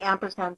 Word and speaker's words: ampersand: The correct syntax for representing an entity is the ampersand symbol, the name of the entity, and a semicolon, or the ampersand symbol, number, and a semicolon.